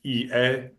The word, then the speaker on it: IE: But if you wanted an English speaking course in Spain, IE University, you might hear it pronounced EA because that would be how you say it in Spanish, but I'm using the English pronunciation here.